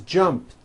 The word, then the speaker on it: jumped: T so jump becomes jumped with a T sound at the end jumped of course the word is spelled with an e D ending it's just pronounced as a T jumped like that the